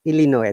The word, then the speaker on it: Illinois: you but teacher april illinois that is s but we don't pronounce it illinois the state oh now